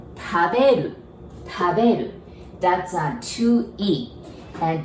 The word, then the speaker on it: 食べる: Okay, so casual original way is 食べる. Remember, we don't have R sound in Japanese, so we pronounce it like L, right?